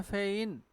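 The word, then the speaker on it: feign: फिर क्या लिखा है फेइन, जी साइलेंट है।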